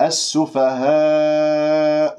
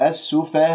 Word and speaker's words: السفهاء: همس، هو، هم، هم السفهاء، السفهاء ولكن، لاحظتم لدينا في كلمة السفهاء حرف المد والهمزة في كلمة واحدة، فهنا يكون مد واجب متصل، وأقول السفهاء ولا أقول السفهاء، أملت الألف وتغير الصوت والصوت غير مستساغ، فانتبهوا بارك الله فيكم.